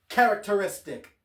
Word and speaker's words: characteristic: And a bonus English pronunciation, characteristic, because that is a long word. So, let me pronounce that for you real quick. Ca- rac- ter- is- tic. Ca-rac-ter-is-tic. Characteristic. Five syllables.